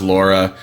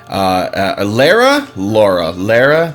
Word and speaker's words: Lara: I really like this section of the game, by the way, because this shows Lara, Lara. They pronounce it both ways.